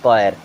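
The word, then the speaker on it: choir: क्या पढ़ते हैं कॉर्ड सी एच ओ आई आर इसे क्या पढ़ते हैं कोयर क्या पढ़ते हैं कोयर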